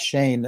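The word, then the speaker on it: Schoen: as joe shane said people are pronouncing it sheen and shone and everybody was wrong it's shane and and so uh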